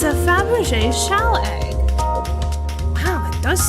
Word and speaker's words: Fabergé: Fabergé? Hold on. How do you act? What? Hold on. Fabergé. Is that actually how it's pronounced? I can spell it right. Fabergé. Pronunciation. Fabergé.